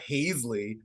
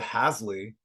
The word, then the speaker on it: Hasley: It's not. Don't get thrown off by that E. Sandra Hasley.